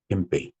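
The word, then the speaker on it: 憲兵: 겐베이. 이 저 헌병 헌자 우리나라의 히읗은 쟤네들 기역으로 발음합니다. 네. 그래서 헌병 겐 병을 빼이 이렇게 발음하죠. 겐베이.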